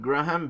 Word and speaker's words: Graham: Anyways, so I got Graham Bennett, which is on 1,300 days.